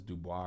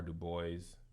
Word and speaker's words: Du Bois: Sometimes I be like, and I think I pronounce I never know if it's Dubois or Du Bois.